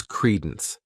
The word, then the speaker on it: credence: The next noun is credence. This word has 2 syllables, and the stress is on that first syllable.